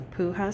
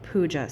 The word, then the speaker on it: puja: I was pronouncing it as a puha ceremony and it's pronounced pua ceremony.